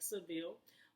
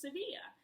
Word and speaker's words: Sevilla: good cuz technically well in English it looks like Seville but in Spanish it's Cydia and like Barcelona is